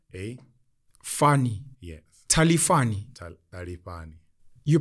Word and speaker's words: Talifhani: Talifhani. You pronounce it? Talifhani. Tali. Ta. Ta. Like a TH.